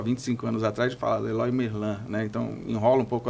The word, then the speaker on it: Leroy Merlin: Ou como que é a pronúncia correta? Na França é Leroy Merlin. Leroy Merlin.